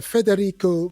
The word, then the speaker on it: Federico: Federrico. Did I pronounce that correctly, Federico?